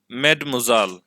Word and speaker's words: mademoiselle: یہ نقلی تلفظ تھا جو آپ نے دیکھا. میڈموزال، میڈموزال would be correct.